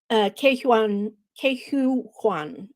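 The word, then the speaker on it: Ke Huy Quan: Ke-Hu Kwan, I believe it's pronounced.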